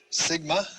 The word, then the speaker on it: sigma: you that other sound sigma has an s sound looks like that in the beginning or middle of a word and at the end a sigma like that like our english s tough has a t